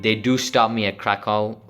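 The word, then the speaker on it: Kraków: do stop me at krakow right that's how you pronounce it krakow and and um even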